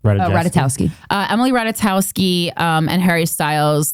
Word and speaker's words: Ratajkowski: Ratajkowski.